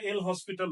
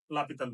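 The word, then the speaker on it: L'Hôpital: এটা দেখে অনেকেই মনে করে এটা এল হসপিটাল রুল। আসলে এটার উচ্চারণটা লাপিতাল রুল। এই রুলসের সাহায্যে আমরা লিমিটের প্রায় 90% ম্যাথ করতে পারব।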